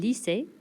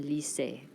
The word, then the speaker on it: lycée: Un lycée. Un...ly...cée. Probably one of the most frequently mispronounced words. Un "lee-say" - a high school.